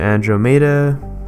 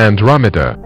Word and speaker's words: Andromeda: new name androma now I'm pretty sure a good majority of us pronounced it androma something around that even I did but it's actually pronounced Andromeda in real life Andromeda